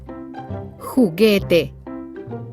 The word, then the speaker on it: juguete: These words are written with a silent U in between. Gue, like juguete.